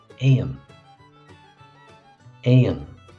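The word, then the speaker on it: éan: bird itself the Irish word for bird is a aan and again aan now you see on the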